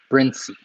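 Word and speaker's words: Brinsea: Looks like people in Bern pronounce it Brincy.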